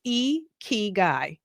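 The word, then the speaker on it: ikigai: whole purpose of and how you say this e key guy I had to learn it learn that phonetically y'all after that my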